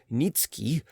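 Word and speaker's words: Niëtzky: The family tradition was that a certain Polish nobleman, Nikki, pronounced Nitski, had obtained the special favor of Augustus the strong, king of Poland, and had received the rank of Earl from him.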